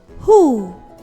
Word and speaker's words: who: WH can also sound H, who, whole, whom, whose. When you focus and read, you will find that the letter W is silent in these words.